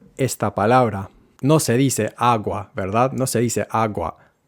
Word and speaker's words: agua: El sonido se vuelve tan débil que casi desaparece por completo. Nada por debajo del agua. Muchas cosas debajo del agua pasan.